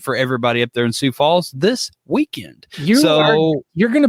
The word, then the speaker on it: Sioux Falls: It's pronounced Sioux Falls.